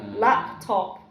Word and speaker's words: laptop: What about your final P? Well, it's pronounced in a different position. It turns into a global stop instead. Produced by your lips.